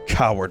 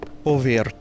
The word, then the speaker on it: covert: Crimson Wizard is legendary, but I never would have thought that the coward was a bloodthirsty spy. Covert. That's how you pronounce it properly.